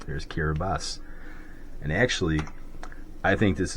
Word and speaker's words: Kiribati: a TI and again the ti is pronounced like an S there's kiras and actually I think